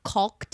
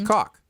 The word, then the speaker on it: caulk: I just haven't done it because I've never caulked anything before. I'm really trying to pronounce the L. I'm really trying. I can hear that. I'm caulking. It's caulk.